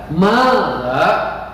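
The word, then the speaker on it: ماذا: Baik, mufradat yang berikutnya atau kosakata yang berikutnya itu ada madza. Dengarkan lagi, ingat-ingat, simak baik-baik bacaannya seperti apa, nanti biar menyesuaikan dengan tulisannya yang ada di video ini. Madza, gitu bacanya ya.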